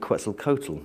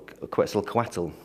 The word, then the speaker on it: Quetzalcoatl: to look at the legend quetzel Kotal or Quetzalcoatl she sometimes pronounced which in the Mayan